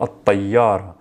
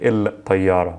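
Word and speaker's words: الطيارة: Or this is a sun letter because I say, for example, at-tayyara. I don't say il-tayyara. I'm saying at-tayyara, at-tayyara.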